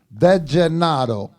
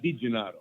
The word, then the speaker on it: DeGennaro: DeGennaro. DeGennaro. Yes, sir. So DeGennaro, not DiGennaro. DeGennaro. DeGennaro. DeGennaro. D-E. Saying it right. So like San Gennaro, DeGennaro.